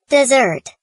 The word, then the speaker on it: deserts: the internet just deserts desert pronounced desert what you justly deserve upon a pillory that